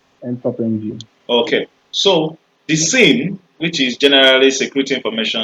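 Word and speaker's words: SIEM: This is pronounced as SIM.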